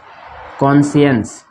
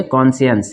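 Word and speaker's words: conscience: इसको पढ़ेंगे कॉन्शियंस, इसको क्या पढ़ेंगे? कॉन्शियंस, इसमें सी साइलेंट हो जाएगा, कॉन्शियंस। क्या पढ़ेंगे इसको? कॉन्शियंस, ठीक है। सी का उच्चारण नहीं करेंगे इसमें, देखिए।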